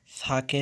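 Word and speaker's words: ث: সাকে নরম করে, পাতলা করে এবং 1 সেকেন্ড টেনে পড়তে হবে। সা সা সা। আসলে বাংলায় এত নরম উচ্চারণ হয় না, তো তবুও দেখাই দিচ্ছি।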